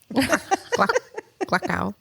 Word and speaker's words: Glockow: Glockow. People would always get it wrong, and I'd be like, it rhymes with luck, but it's Gluck. And then ow.